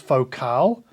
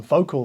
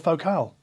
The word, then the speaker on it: Focal: comes from Ryan e and he writes it's pronounced focal I'll be damned yeah I think I learned that one the hard way a few years ago because I think I was calling them vocal for many years but no they're French and